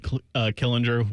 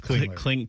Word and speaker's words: Klingler: It's David Killinger, which it's Klingler. Klinger.